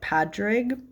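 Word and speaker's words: Pádraig: And I believe the way that you pronounce this name is that it's very close to being like Patrick in like Gaelic or whatever. So I think it's like Padraig.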